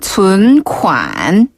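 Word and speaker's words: 存款: 네, 저금하다는 춘관. 간단하네요. 네, 간단하죠. 춘관. 네, 여기서 춘이란 단어는 저축하다, 저장하다 뜻을 가지고 있는 존자거든요. 존재할 때 존자인데 춘이라고 발음하고요. 춘.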